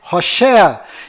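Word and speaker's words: הושע: mudou para josué mas a pronúncia correta de oséias é rocher e quando moisés mudou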